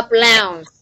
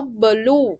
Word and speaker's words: blouse: It is a blouse. Okay, so for medical stuff, they call it áo blue, nhưng mà actually is pronounced as blouse.